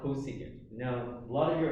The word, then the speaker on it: cosecant: known as csc so the way that you pronounce this laserdom it's called cosecant now a lot of you're already looking at